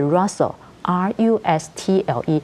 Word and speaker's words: rustle: 這個 rustling 這個字，它原來的字是 rustle，R-U-S-T-L-E。